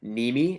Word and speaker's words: Nehme: channel is my name so it's m niemi and my last name is spelled n-e-h-m-e m niemi just search me